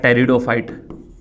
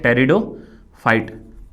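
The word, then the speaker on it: pteridophyte: एक होता है आपका टेरिडोफाइट, पी साइलेंट होता है इसकी स्पेलिंग में, ठीक है, टेरिडोफाइट, ठीक है।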